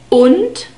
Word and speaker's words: und: We have a short U sound in this word, the O sound, und, and the D is spoken like a T again.